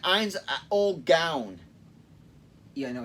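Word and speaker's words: Ainz: short a literally okay he just sounds like ein's old gown yeah i know he's pronounced eins we let the joke stand yes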